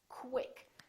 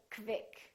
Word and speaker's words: quick: spelled with q u they're pronounced as k w so there's a little w sound in here so i want you to say quick pronounce the k w quick quick don't say kvik or kik say quick